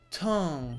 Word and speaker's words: Tong: Sono Tong. Si pronuncia così, raga, alla francese, linguistico.